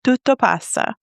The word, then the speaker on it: tutto passa: You shared an Italian phrase tutto passa. Did I say it right? Yes, tutto passa.